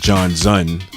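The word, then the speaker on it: Jonzun: They were brothers, Maurice Starr and Michael Johnson, or they pronounce it John Zun with a Z to give it that kind of futuristic feel.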